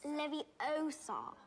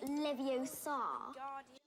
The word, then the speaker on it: Leviosa: Wingardium Leviosa. Stop. You're saying it wrong. It's Leviosa, not Leviosa.